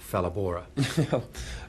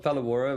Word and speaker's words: Phalaborwa: Can you tell us a bit about Phalaborwa? It's pronounced Phalaborwa, but Phalaborwa, a lot of people get it wrong, don't worry.